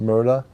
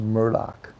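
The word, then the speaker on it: Murdaugh: their name is spelled it's pronounced Murdoch but it's spelled m-u-r-d-a-u-g-h so you would think it should be pronounced Murda like m-u-r-d-a-u-g-h Murda but it's pronounced murloc same thing with with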